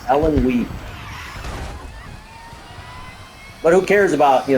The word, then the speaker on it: Illinois: Ellen Wee is the proper way to say it. Ellen Wee.